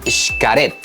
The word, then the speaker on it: Xcaret: que existe en Cancún sharet me dijeron que así es como se pronunciaba resulta que es un